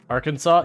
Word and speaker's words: Arkansas: doesn't make sense Arkansas's I don't think you pronounce a second s on it there's a lot of